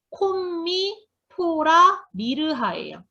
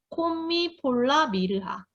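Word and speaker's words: Commiphora myrrha: 콤미 포라 미르하예요. 이렇게 읽으시면 돼요. 콤미 폴라 미르하.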